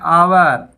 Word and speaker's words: hour: इसमें H silent होता है। HOUR, हावर ही बोला होगा, होता है आवर।